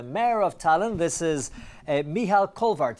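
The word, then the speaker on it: Mihhail Kõlvart: This is Mihal Kõlvart. Did I pronounce that right? Hello. Nice to meet you. Mihal Kõlvart. Kõlvart. I was close.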